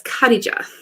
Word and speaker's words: Khadija: I don't know how to say her name. Khadija. I had to ask her. So it's Khadija.